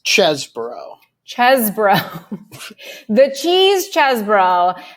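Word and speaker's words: Chesebro: we've seen include uh Sydney Powell and Ken cheese or chesbro I should say now I know how to pronounce his name it's the cheese but it's chesbro chesbro the cheese chess bro has filed a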